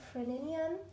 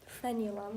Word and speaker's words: frenulum: it looks like the friend inium is a nice length or frenulum that's more accurate pronunciation of that and it allows for